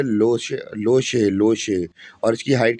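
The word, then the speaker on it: Lhotse: लोशे, लोशे mountain peak. तो भैया लोशे, जो यहाँ पे इसकी स्पेलिंग तो LHOT ऐसी होती है, पर टी साइलेंट होता है।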